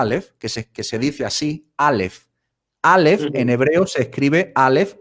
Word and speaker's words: Aleph: Pero cuando yo veo el nombre de la letra Aleph, que se dice así, Aleph, en hebreo se escribe Aleph, Lamed, P.